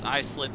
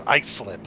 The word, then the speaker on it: Islip: That is a long I. It is iSlip. Okie dokie. Because I'll tell you what, if you go out to Long Island and you pronounce it Islip, you're liable to get beat.